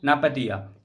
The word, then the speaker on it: Naypyitaw: अगर कैपिटल की बात करेगी नापतिया, NA, ये M लिख दिया मिस्टेक से, ये NAYPYITAW है। इसको अपने हिसाब से प्रोनाउंसिएट करना, मैं प्रोनाउंसिएट कर रहा हूं इसको नापतिया।